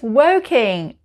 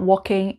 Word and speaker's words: Woking: think this is it's working it's about 20 minutes by train to london and it's not walking it's working working number four sorry